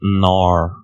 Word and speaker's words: Knorr: Ça se prononce Knorr.